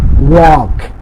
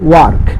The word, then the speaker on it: walk: So it's a walk, not work, it's a walk. British the আর উচ্চারণটা করে না, walk.